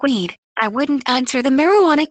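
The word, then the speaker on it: Wead: Later, he told his biographer, Douglas Wedd, "Yes, pronounced like weed.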